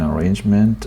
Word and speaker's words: arrangement: can come to an arrangement. Okay. Some sort of pronunciation. Some sort of some sort of some sort of stress on rain. Arrangement.